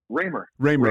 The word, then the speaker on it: Ramer: Raymer. Okay. Raymer.